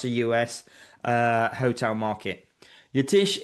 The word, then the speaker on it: Yatish: Um yes, my name is Yatish. It's it's pronounced just like how you see it on paper.